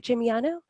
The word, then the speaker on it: Gimigliano: Gimigliano, are you ready to begin? Yes, thank you, Anne. And good pronunciation of my last name.